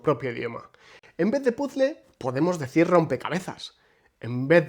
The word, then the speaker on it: puzle: de la palabra extranjera, pero la pronunciamos a la española, dando la impresión de ser una palabra completamente distinta, como ocurre con puzzle y baffle, ambas préstamos del inglés, que originalmente se pronuncian puzzle y buffle.